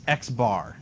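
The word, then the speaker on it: x̄: do you say that do you say x with a line over it no that's xbar and the number the letters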